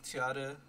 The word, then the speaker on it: Tiader: My name is Tiader. That's how you pronounce it.